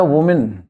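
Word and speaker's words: woman: एक औरत का जो उच्चारण है वो है वुमेन, वुमेन, ठीक है। ज्यादा होंगे तो विमेन, इनका उच्चारण ये है, इनमें एस नहीं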